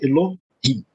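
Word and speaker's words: אלהים: A palavra Elohim, por exemplo, a primeira, né, vogal que aparece, na verdade, é semivogal. Então, a sílaba é Elohim, né, são duas sílabas, só para a gente entender como é que isso funciona.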